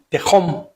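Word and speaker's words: תהום: El origen de esta palabra es, para oscuridad, es tehom. Tehom, así con acento en la A.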